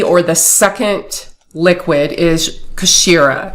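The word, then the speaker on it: kshiira: the second deity or the second liquid is kashira it's spelled k-s-h-i-i-r-a and this is um this is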